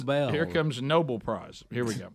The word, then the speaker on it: Nobel: she's going to pronounce it like the street that was near where we all grew up. Yeah. Noble Street. so here comes Nobel.